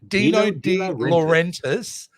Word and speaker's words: Dino De Laurentiis: Dino De Laurentiis, yes, entertainment group, who, you know, they were